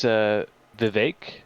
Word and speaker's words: Vivek: Yeah, it's Vivek. Vivek. It like rhymes with the word ache.